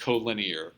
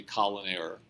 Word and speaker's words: collinear: but this is pronounced co-linear and i know it looks like it ought to be colon error but it's co-linear the definition of co-linear